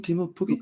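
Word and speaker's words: Teemu Pukki: Their guy, Timo Pukki, is that how you pronounce him? Timo Pukki?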